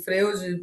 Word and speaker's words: Freud: Se escreve assim, Freude, né? E a gente fala Freud porque é a língua alemã.